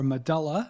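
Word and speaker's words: medulla: to the brain stem the medula or medala as some people pronounce it and within the medula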